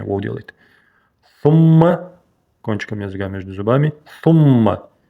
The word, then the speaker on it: ثم: Сумма. Кончиком языка между зубами. И удвоенное мим.